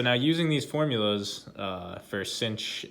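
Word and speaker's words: sinh: is the hyperbolic sine of x which is cinch of x for short and so the reason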